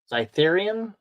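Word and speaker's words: Xytherian: This is a Zytherian guard, I think it's how it's pronounced. Because X's always sound like a Z with the Y.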